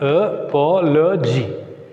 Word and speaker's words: apology: If a word ends with the suffix L-O-G-Y, G-R-A-P-H-Y, graphy, I-Z-E, I-A-N, and these suffixes, the words end with these suffixes take stress on penultimate syllable. Penultimate syllable. Sorry, anti-penultimate syllable. Anti-penultimate. So anti-penultimate means third syllable from the end. So what is the third syllable from the end? Apology. GY is the first syllable, LO is the second syllable, and the third syllable is PO.